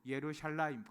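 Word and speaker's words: ירושלים: 여러분, 예루살렘은 어 히브리어로 예루샬라임 똑같이 발음합니다.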